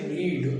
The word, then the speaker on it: read: अब आती एक वर्ब होती है रीड यानी पढ़ना, जिसका सेकेंड थर्ड फर्स्ट एक ही जैसा होता है, उच्चारण बदल जाता है।